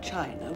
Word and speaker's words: Qin: the Great Wall of China was designed by the emperor Qin was a spur excuse me miss Seymour it is pronounced chin Thank You mr.